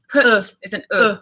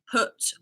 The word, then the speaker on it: put: quite good question actually cut it's an AA put put yeah like bull yeah cut ah yeah put like yeah I'm also bear in